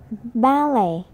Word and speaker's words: ballet: British people always pronounce the T, but in some words we are not supposed to pronounce it. They are listen, listen, castle, castle, buffet, buffet, soften, soften, ballet, ballet.